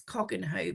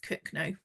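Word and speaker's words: Cogenhoe: So, there's one that I would pronounce Cogenho, but it's actually pronounced Cookno.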